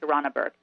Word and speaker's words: Tarana Burke: Because I think Tarana, how do you say her name? Tarana Burke, right? Yeah, Tarana Burke.